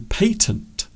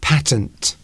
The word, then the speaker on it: patent: You patent something. Or in America, patent. That's it, yes. Patent, they would pronounce it in America. We say patent because we're posh.